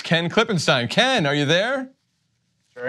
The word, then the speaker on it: Klippenstein: He's a Klippenstein, they're Krassenstein, and the device I use to remember the difference is the first syllable of their last name is Crass, which means thoughtless and ignorant, and the first syllable of Ken's last name is Clip, which is the part of a firearm you put the bullets in.